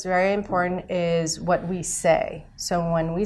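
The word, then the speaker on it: 四: don't like that, because when we say 4 in Chinese, it's pronounced say, and when we say death in Chinese, it's also pronounced say.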